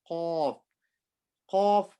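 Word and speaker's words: ق: Qaf, I make my mouth round. Kaf, I make it flat.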